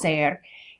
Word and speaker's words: ser: This is our other verb that means to be in Spanish, and it's pronounced ser.